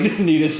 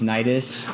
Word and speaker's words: Nidus: There is a You didn't like Nitus and Titus? no. It's Nidus.